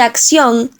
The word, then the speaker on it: acción: En el caso de acción, la sílaba tónica es la última, termina en ción. La palabra es aguda y las reglas dicen